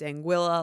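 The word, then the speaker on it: Anguilla: to pronounce it and he said it's anguila like vanilla so I I feel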